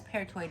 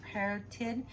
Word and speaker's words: parotid: taking tubes para parrot i thought it was peritoid but it's parotid and salivary glands which